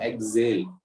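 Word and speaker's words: exhale: Word है, एक्स एक्सेल, लेकिन इसको पढ़ते हैं हम एक्सेल। ठीक है, ऐसे पढ़ते हैं कि जेल, ऐसे जेल ऐसे आ रहा है, एक्सेल ऐसे पढ़ने में ऐसे आ रहा है, लेकिन स्पेलिंग तुम देखो कैसी है, एक्सहेल, एक्सहेल है स्पेलिंग है इसकी, एक्सहेल।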